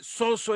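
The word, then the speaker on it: σῴζω: Entonces, salvación es una palabra griega que se escribe soso y se lee soso en griego, significa 5 cosas: perdón, sanidad, liberación o rescate, de donde viene la redención, preservación y protección.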